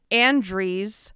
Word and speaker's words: Andreas: It's in Andre, Pennsylvania, which is spelled Andreas.